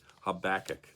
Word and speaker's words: Habakkuk: very much and and there they did say habakkuk or the way that I've always been saying it so that's what I'm going to stick with the rest of this